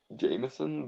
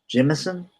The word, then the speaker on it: Jemisin: I think it might be Jameson, but I don't know. Well, there's no A; it's an I, like J E M I S I N. So Jemison, I suppose.